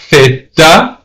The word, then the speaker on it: theta: Alpha, beta, zeta, theta. That's pronounced T-H-E-T-A, theta. So if you're born and raised in Spain, you're going to pronounce the letter Z as theta.